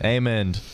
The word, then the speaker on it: Eamon: Shout out to Eamon. Eamon. How do you spell it?